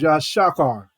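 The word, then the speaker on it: יששכר: And the way you say his name in Hebrew is Yashakar.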